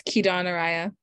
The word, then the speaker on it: Kidan Araya: Yep, almost. It's Kidan Araya.